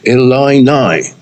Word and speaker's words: Illini: Again, Stern have teamed with the Fighting Illini football team. Oh, no, hang on. I've got to correct you, because I was correcting myself last time, but I pronounced it like that. It's pronounced Illini.